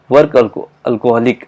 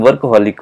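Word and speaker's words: workaholic: वर्क अल्कोहलिक, अल्कोहलिक ऐसे भी कोई इसका प्रोनाउंसिएशन ऐसे कि वर्क अल्कोहलिक, लेकिन वर्कहॉलिक होती है, राइट।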